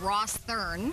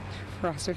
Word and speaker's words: Rosthern: in saskatchewan and it's the proper way to pronounce it is with a soft th sound lou what's the name